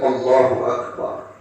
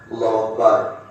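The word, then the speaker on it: الله أكبر: Kemudian yang keenam annuku bilfsil akbar. Akbar. Bagaimana yang kita jelaskan kemarin kebanyakan orang hilang hamzahnya. Allahu Akbar. Allahu Akbar. hilang, hamzahnya hilang, maka batallah takbiratul sal.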